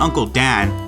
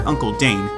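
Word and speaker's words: Uncle Dane: before concluding know this I know it's not Uncle Dan but rather Uncle danne no need to point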